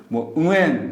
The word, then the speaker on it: Nguyen: 그 문자 체계 는 확실히 어렵지만 , 베트남 자체 에서 실제로 "Ngu" 처럼 발음 됩니다 .